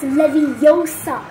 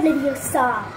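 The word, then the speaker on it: Leviosa: eye out and besides you're saying it wrong it's levosa not leosa it's a Twist and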